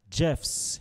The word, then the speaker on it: Jeff's: Jeff's, you hear the S sound. Jeff's, S sound.